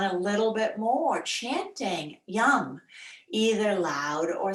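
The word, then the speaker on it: Yam: The seed sound for the heart is Ram. No, it is Yum. Sorry, Ram is your third chakra. That was last week. Yum. Whether you spell it Y-U-M or Y-A-M, I don't care.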